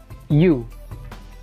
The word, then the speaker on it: Euwe: Sebagai contoh, saya akan sajikan sebuah partai di mana Bobby Fischer akan berhadapan dengan U. Tulisannya EUW, tapi saya lebih senang membacanya U, di Leipzig pada tahun 1960.